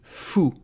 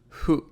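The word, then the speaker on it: ふ: And fu, if you listen carefully, I'm not saying fu. I'm saying hu, because I hear a lot of people saying fu.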